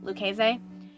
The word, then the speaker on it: Lucchese: Although I typically pronounce it Lucchese just because it's easier for me, I do believe the correct pronunciation is Lucchese.